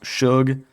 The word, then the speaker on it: Sug: Also, shout out to the comments section who told me it's pronounced Suge.